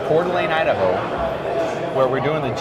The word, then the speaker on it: Coeur d'Alene: in Coeur d'Alene Idaho don't get me to spell that for you but that's that's how you pronounce it phonetically Coeur d'Alene Idaho where we're doing